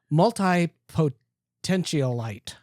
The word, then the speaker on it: multipotentialite: do like happy okay multi potential light okay I'm saying it correctly now multipotentialite which is of course